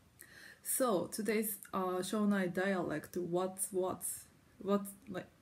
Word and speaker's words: わっつわつ: in English so you can just say like what what or what is what is to offer yeah